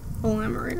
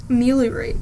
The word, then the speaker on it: ameliorate: It was Alamorite. I was getting the pronunciation.